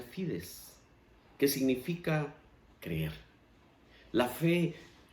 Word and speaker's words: fides: En realidad, cuando hablamos de la fe, la palabra fe, proviene de un latín que se pronuncia fides, que significa creer.